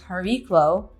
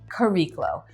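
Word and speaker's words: Chariklo: never say this right i've heard it pronounced as hariklo in greek but also i've always known it to be kariklo she is the wife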